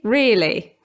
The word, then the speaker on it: really: Although here's what the dictionary says, the /ə/ is not usually pronounced.